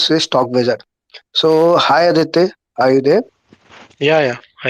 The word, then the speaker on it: Aditya: So hi Aditya, are you there? Yeah, yeah. Hi. Hi. So did I have pronounced your name correctly? Is it Aditya? Na? Yeah, it's Aditya.